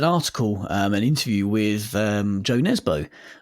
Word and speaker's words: Nesbø: interview with Joe Nesbø, or as we were told recently by a listener, he's actually pronounced, I think, Nesbø. Right. Or something like that. Yeah, when he was playing for Tottenham, that wasn't how anyone used to pronounce his name. Yeah. I was going to say, it just sounds like he's a Geordie when you say it like that.